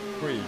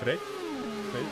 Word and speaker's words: Freek: With lots of and his name actually, so Freak. It's not actually, it's Freek.